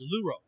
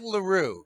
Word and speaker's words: Louroe: I'll pronounce it. It's Luro. Luro, Okay. Not LaRue.